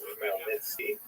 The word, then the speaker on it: Khmelnytsky: It's actually pronounced Khmelnytsky with a guttural at the beginning.